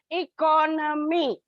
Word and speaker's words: economy: In suffix shift, it changes, like economy. You will find it's on the second economy. It's on the second syllable.